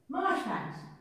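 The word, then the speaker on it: Marjoribanks: And he laid the foundation stone just before he married Ishmael Marjorie Banks. And he was Marsh Banks. Is that how you pronounce it? Mm-hmm.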